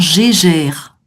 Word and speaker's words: Geiger: Alors, ouais, en français, on dirait un compteur Gégère.